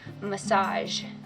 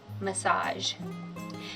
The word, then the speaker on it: massage: ge letter combination not always but often is pronounced as ja as in the word beige or massage beige massage so for method one you're going to record